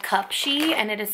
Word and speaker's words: Cupshe: company that I got these from is called cup Shi and it is spelled CU p sh e and what I